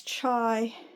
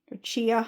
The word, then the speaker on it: chia: And then I've got some of my other smaller um sugars and salts, uh flax, chai or chia.